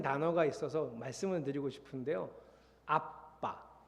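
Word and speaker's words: אבא: 아빠, 정확하게 발음하면 아빠, 아람어입니다.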